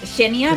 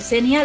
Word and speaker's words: Xenia: Xenia. Está bien. Shenia. En teoría es genia, pero Senia lo acepto perfectamente, no te preocupes.